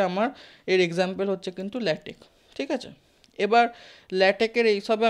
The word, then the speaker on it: LaTeX: এর এক্সটেনশন জানো কেউ ল্যাটেকের ফাইলের ডট টেক্সট ঠিক আছে ডট টি সি টেক্সট এবার আমি বারবার বলছি ল্যাটেক্স কিন্তু একচুয়ালি এটা ভুল উচ্চারণ সঠিক উচ্চারণ ল্যাটেক কে কে উচ্চারণ হয়